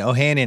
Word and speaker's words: Ohanian: to me well okay oh ohanian is what i say i feel like there's a there's a much more armenian way of doing it which is like ohanyon but i just say ohanian alexis ohanian the thing